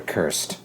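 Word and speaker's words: Kurst: You see his brother Cursed. Kirstie Alley. No, Cursed. Brother's been Graf. cursed. Ooh, that's clever. It's spelled K-U-R-S-T, not C-U-R-S-E-D, just in case you were sure.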